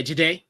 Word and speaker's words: Jahdae: And defensive rookie, I'm going with I feel like I'm gonna say his name wrong. Jahdae Barron. Oh yeah, Jahdae. Yeah, Jahdae.